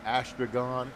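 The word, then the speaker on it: Astragon: at asron dode and ason is spelled a s t r a g o n help desk at asron dode Delta Echo and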